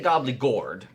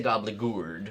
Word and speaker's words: Gobbleygourd: Now you say Gobbleygourd, I say Gobbleygourd. Oh, I kind of say Gobbleygourd. Right. There's But I think I slip back and forth. Yes, both are acceptable pronunciations of this monster.